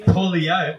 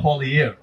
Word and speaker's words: Poilievre: know what this is the trick one it's poier I figured that out yes it's not poier poier poier see there we go so when